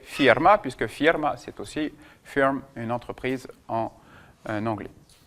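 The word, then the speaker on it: фирма: Alors, faites attention de pas prononcer le a plein puisqu'il est en dehors de l'accent tonique. Il est en position at firma. Le A ne va se prononcer A que quand il est sous l'accentonique, sinon il va s'altérer. Firme.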